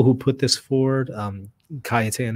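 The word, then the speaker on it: Cajetan: put this forward um cayetan is one of them some call or pronounce it kejatan he was he was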